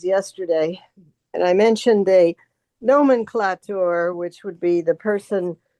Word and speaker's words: nomenclator: Only it would be nomenclator. I mean, how would you pronounce that? Okay. It's four So syllables. the A is long.